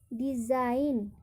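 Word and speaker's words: design: तो हमने पढ़ा कि जब शुरू और अंत में यानी स्टार्ट और एंड में GN हो तो वहाँ पर जी का उच्चारण नहीं होता है।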